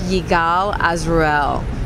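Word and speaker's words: Yigal Azrouël: so here's the deal this is how you pronounce this name right here it's yigal azrael took me a long time to figure it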